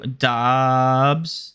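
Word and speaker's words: Doubs: all right we have Drake London and Romeo Dobbs is how you pronounce his last name Dobbs yep Romeo Dobson uh that's a that's the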